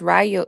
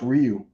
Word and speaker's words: Ryu: Is that how you pronounce it? My bad. I thought it was Rayo. Is it Rayu or Ryu? I I Street Fighter character, ain't it? The street fighter character is actually pronounced Ryu.